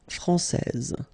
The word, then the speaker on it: française: main rule, elle est française. Okay, so français, here you get this final S that you don't pronounce, so français, and then when you put this final E here, you will get française.